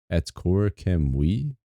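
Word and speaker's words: Akkorokamui: The pronunciation of is roughly at Atskora Kamoy. Atskora Kamoy? No, wait. At Kor Kam We? At Korakamwi. That's how you pronounce it.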